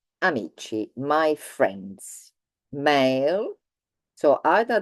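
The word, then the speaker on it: amici: we have um many friends we have e amichi my friends male so either they all male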